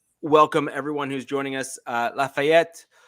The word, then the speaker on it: Lafayette: Lafayette, yes, I did pronounce that with a French accent. That's ETTE, which is typically French, so just deal with it.